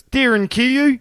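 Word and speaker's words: Derinkuyu: Yeah, to be honest, it's Darin Kayu.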